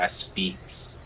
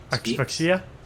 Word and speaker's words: Asphyx: Well, it's pretty much the name is the Asphyx. Asphyxia? No, it's ASPHYX.